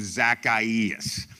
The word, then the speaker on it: Zacchaeus: through 10 a guy by the name of Zacchaeus so we're gonna call him Zach for the